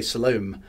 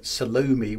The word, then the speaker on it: Salome: You know, there's multiple ways to pronounce Salome. Some people just say Salome. Some people say Salome. I prefer Salome with a middle long loo, but that's just me.